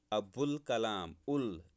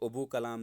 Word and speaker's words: ابوالکلام: ابوالکلام، الف اور لام دونوں کو ہم پڑھتے ہیں ابوالکلام. اس کو ابو کلام نہیں پڑھ سکتے، وہ غلط ہے، اس کا تلفظ غلط ہو جائے گا.